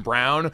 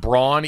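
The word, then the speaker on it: Braun: the broadcast that is pronounced Brown and not Brawn even though it is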